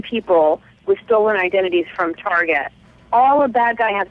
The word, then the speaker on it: Target: right by the way did you pronounce it tar one time tar yeah yeah yeah that's a California girl it's it's it's Target in Florida it's tar oh I see Target but it's just T